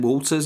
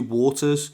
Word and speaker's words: Waters: waters sorry I think I pronounced his name Walters it's actually waters was forced to watch